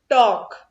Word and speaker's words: talk: Then talk. So T-A-L-K talk, but L is silent.